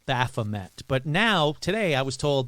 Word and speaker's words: Baphomet: The name was first used by the French, so it is a French name originally. In French, it is said as Baphomet.